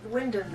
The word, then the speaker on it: Wymondham: And Wyndham is spelled Wymondham.